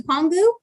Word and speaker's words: Pongu: have what's called palm is it ponga pong goo pongu yup okay i said it right so this is